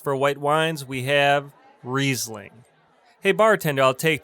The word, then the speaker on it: Riesling: on our list for white wines we have Riesling. Hey bartender, I'll take 2 glasses of Riesling for table 2. Could I get a bottle of Riesling for table 2? Riesling. It's pronounced Riesling.